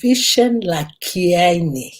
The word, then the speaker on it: Vishen Lakhiani: extraordinary mind by version like how do you pronounce it um charity the name is uh vishen la kiyani nation that's so it was important to know